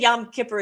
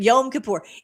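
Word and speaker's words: Yom Kippur: So, I think Yam Kipper is like fish or something, but Yom Kapoor. Anyway, I learned how to say it.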